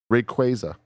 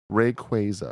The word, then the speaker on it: Rayquaza: They say Ray dash kw a y- zu, but like ray.